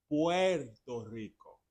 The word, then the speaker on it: Puerto Rico: It's not Puerto Rico because Puerto Rico would be Porto, Porto, right? But it is Puerto Rico.